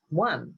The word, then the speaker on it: one: uh mnemonic for children to remember the o in one which they don't don't actually hear but they do see